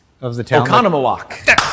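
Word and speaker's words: Oconomowoc: Do you remember how to pronounce the name of the town Okanawok? Okconawak.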